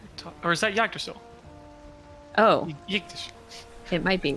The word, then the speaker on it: Yggdrasil: Dirk Pitt Rivers says, FYI, the stress is on the Y in Yggdrasil, so it's pronounced like Yggdrasil, just with a Y.